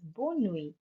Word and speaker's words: bonne nuit: Our last expression for today is bonne nuit.